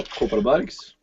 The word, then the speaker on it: Kopparbergs: Oh, Kopparbergs.